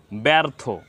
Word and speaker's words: ব্যর্থ: সংযুক্ত হয়েছে এজন্য আপনার এখানে এ এর মত উচ্চারণ করতে হবে ব্যর্থ ব্যা ব্যা এখানে এ